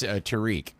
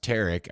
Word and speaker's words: Tarek: So now that I officially know that it's not pronounced Tariq and it's pronounced Tarek, I probably owe him an apology next time I see him.